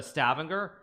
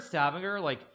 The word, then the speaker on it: Stavanger: to be this direct flight from Houston to Stavanger, and now the flight doesn't exist anymore. So maybe there aren't the Oilers that there used to be, because it's the oil city. Like if you're in Stavanger, or Stavanger, I should say, as that's correct